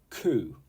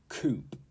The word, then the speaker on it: coup: the street 22 is coup coup not coupe not Coupe and this